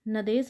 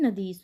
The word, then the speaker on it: नदीश: आगे हमारा क्या है नदेस नदेस नहीं नदीश होता है नदीश नदी प्लस ई बराबर नदीश हो जाएगा जैसे ई सॉरी सॉरी